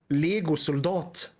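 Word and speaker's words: legosoldat: Lego soldat. Okay. This always confused me as a kid. It sounds like legal soldier. It's spelled the same as Lego.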